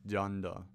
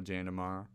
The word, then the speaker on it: Xander: of comps, and they would all get Jander's name wrong. They would say Xander, Junder, or Junder. Like, they would say something that's weird, that's not Jander or Jander Mara.